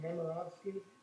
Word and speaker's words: Nemirovsky: The last name is pronounced Nemirovsky, but everybody just calls me Nemo.